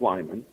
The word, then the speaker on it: Limon: And so but if you want to get collected, my email is E as in Edward, it's e.limon l i m o n, back then pronounced Lyman.